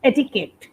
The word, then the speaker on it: etiquette: can pronounce it correctly as well adequate etiquette etiquette yes etiquette yes we don't pronounce the urea etiquette so what does it